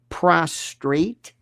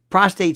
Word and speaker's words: prostate: It's often pronounced prostrate, which drives me nuts, the word.